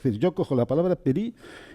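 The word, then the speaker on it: פרי: Bueno, en hebreo fruto se dice peri. Peri.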